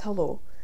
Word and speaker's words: halò: hello which in gaelic is hello it's just hello h-a-l-o where the grav or strachan is called